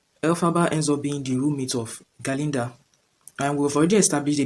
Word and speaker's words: Galinda: was a good right he wouldn't pronounce galinda properly so he was pronouncing it Glinda gler right because of